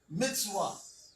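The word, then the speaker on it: מצוה: And then you have the hey mitzah mitzvah mitzvah that's how you would actually pronounce it now because of some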